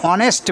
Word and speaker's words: honest: Dash অনেস্ট ম্যান, এখানে অনেস্ট বানানটা দেখো HONEST, এইচ এটা কনসোনেন্ট কিন্তু এইচ এর উচ্চারণ এখানে হচ্ছে অয়ের মতো।